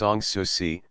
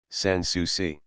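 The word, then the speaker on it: Sans Souci: card on the desk the name of the house is pronounced s sui I said not as spelled Sans sui the inspector handed me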